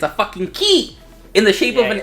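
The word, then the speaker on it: χ: So I'm gonna count Kai, Unchained Kai, and Union Kai as like all one.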